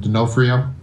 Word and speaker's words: D'Onofrio: When I saw him like that, because I'm pretty sure this is how you pronounce that, D'Onofrio, Vincent D'Onofrio. But like, just say it real quick.